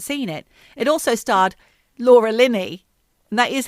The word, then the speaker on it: Laura Linney: It also starred Laura Linney. And that is how you pronounce her name, not Richard Gere.